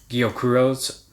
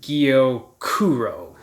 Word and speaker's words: gyokuro: i'll try repronouncing that i've heard it when i listen to the japanese say it i think it's gyokuro so gyokuro um two emphasis you emphasize it twice instead of guillo kuro uh but anyway gyokuro